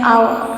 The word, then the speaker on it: hour: And R, it is a pronunciation of H is not there, it is a silent, we say an hour, so it is a vowel.